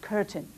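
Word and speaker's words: Köthen: for the prince of curtin c-o-t-h-e-n is pronounced curtain and he remained there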